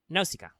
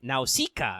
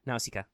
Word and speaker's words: Nausicaa: speaking of Greek females, Nausicaa. And it is pronounced that way in Greek. I double-checked. Technically, Google is like Nausicaa, and I'm like, I'm not saying it that way, Google.